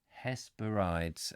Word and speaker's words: Hesperides: is or something let's let's get the pronunciation coming hesperides hesperides has is that what you said Hess has parodies yes thank you got it now his parodies say once you've got it has parodies it's not like doesn't sound